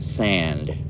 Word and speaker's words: Sand: example is George S or George son um or I should pronounce it in a better way George sand um it was a